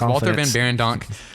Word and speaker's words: Walter Van Beirendonck: He interned for Walter Van Barendonk right? I don't know. I think that's how you say it. It's Walter Van Beirendonck, when he was studying industrial and furniture design